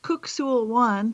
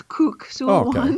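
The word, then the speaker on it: Kuk Sool Won: It's actually pronounced Kuk Sul Wan for anybody who's out there who practices this. That it looks like Kuk, but it's Kuk Sul Wan.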